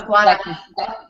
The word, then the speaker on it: Guaraní: It shows Bible stories in Spanish, and I'm not quite sure how to pronounce it. Yeah, Guaraní.